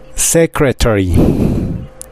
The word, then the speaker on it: secretary: decir secretaria fíjense bien Cómo se pronuncia esta palabra secretary Secret tree Así es secretaria y